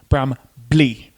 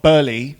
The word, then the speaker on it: Brambley: So now it's Brambley Apple. Brambley. Not Burley. There's no R. Blee. Brambley Apple.